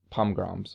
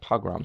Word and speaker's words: pogrom: those with those um pom-grams or jeez i'm saying it wrong what is it called again it's a yeah pogrom so i did say right all right so you